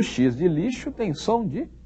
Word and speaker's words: lixo: som de ch não o x de lixo tem som de x mesmo final das contas o nome da letra é x esse nome da letra x o xis de lixo tem som de x